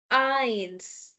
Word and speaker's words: eins: eins No. Here, if you notice, we have the pronunciation rule, which we just have done. e i i e. So, this is i. i i sound is there.